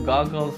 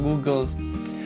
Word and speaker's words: goggles: Itu harusnya gue pronounce-nya goggles, not Googles.